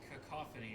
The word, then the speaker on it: cacophony: I'm bombarded with a cacophony of noise. Fun fact, I pronounced cacophony incorrectly 12 times today. I kept putting an N right in the middle, right either after the A or after the O, and I don't know why.